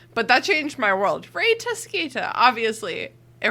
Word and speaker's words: Rita Skeeter: that changed my world ray tosquita obviously it rhymes in brazil yeah it rhymes in british you say her name exactly the same way you say peter pettigrew peter pentagore yeah you